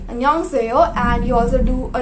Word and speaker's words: 안녕하세요: You pronounce it like 안녕하세요. That's kind of the intonation that you need to do, right?